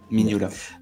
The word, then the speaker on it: Mignola: le prononce. Mignola.